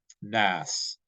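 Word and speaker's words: ناس: So nas in Arabic is spelled noon, aleph, sin, right? So in the transliteration, it would be spelled Naas because you have the aleph in there, so it's like an extra long vowel sound.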